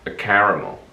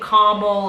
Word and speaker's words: caramel: Almost like they knock off the extra A, like Yeah.